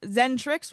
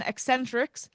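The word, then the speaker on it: Xentrix: Learned for the evening zentrix is pronounced zentrix rather than eccentric also in order for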